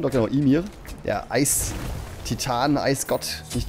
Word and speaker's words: Ymir: Ja, Ymir, wie wird ausgesprochen? Doch, genau, Ymir.